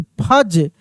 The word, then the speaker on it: fudge: FUDGE, फज, क्या पढ़ेंगे हम लोग? फज। GADGET, gadget, gadget D silent है और जी को ज पढ़ रहे हैं।